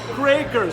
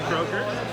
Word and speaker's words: Kroeker: Kroeker. So that's there you go. There. So that's the proper pronunciation.